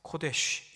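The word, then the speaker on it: קודש: 표현했습니다 바이트 발음을 합니다 셋째는 성소라 표현했습니다 코데쉬 이렇게 발음을 했습니다 하나님이 계시는 그 성전을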